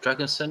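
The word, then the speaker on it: Drăgușin: same sort of thing talking about uh drag dragonson is how you say his name Dragon yeah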